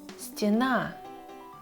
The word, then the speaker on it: стена: Но если у этой буквы нет ударения в этом слове, то мы должны читать ее как И. Например, стена.